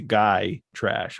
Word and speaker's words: Gytrash: It's a guy trash, I'm pretty certain, isn't it? I think so. Yeah, I've never heard it called like I've always heard it, sorry. I can't even pronounce normal words. I've always heard it pronounced Gytrash.